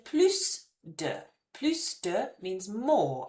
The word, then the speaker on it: plus: Plus de, if you want more of a thing, we say more of the word. So we're going to say plus, we're going to pronounce the S here.